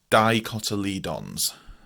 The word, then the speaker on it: dicotyledons: Okay, so that's spelled Dicotyledons. It looks horrendous, and we pronounce that Dicotyledons.